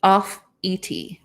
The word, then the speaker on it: Offutt: I think it's off at is what she was saying. Let me scroll up. Yep, off ET.